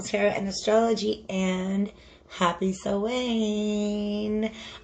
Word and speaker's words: Samhain: Hi guys, it's Molly with Soul School Tarot and Astrology, and happy Samhain. For those of you who are not hip to the Irish pronunciation, you may have seen it spelled something like Samhain.